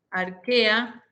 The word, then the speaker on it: Archaea: El dominio Eucaria, el dominio Arquea, se escribe Archaea, y el dominio Bacteria.